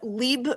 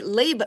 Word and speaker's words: Leib: This again is Neco Turkienicz with Leib Productions, or I'm sorry, Leib Productions. Make sure I Right? got that. Leib is how that's spelled.